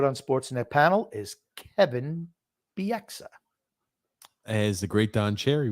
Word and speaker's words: Bieksa: He calls him Kevin Bieska. That's what he called him. Kevin Bieska, which is he was the only person to call him that, too.